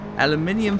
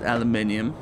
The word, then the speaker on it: aluminium: Actually, I pronounce it aluminium because that's what it is in German. It's also how the word is written in the scientific sense.